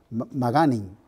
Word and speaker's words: Magainin: Se pronuncia Maganin.